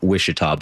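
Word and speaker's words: Ouachita: you look at it, it begins with the letter O, and somehow you pronounce it Wishita.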